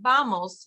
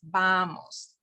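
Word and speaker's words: vamos: so you'll notice again it's more of a b than a v but it's not vels you don't put your teeth on your on your bottom lip it's bamos okay your lips should touch BOS BOS means come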